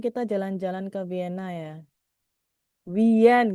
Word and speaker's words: Wien: Wien gitu ya tulisannya ya. Dibacanya wien. Wien win ya.